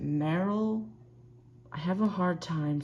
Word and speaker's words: Marill: saw I had a Marill and wanted to trade. And she said that she would trade an Eevee for my Marill. I know, I think you're supposed to pronounce it Meryl.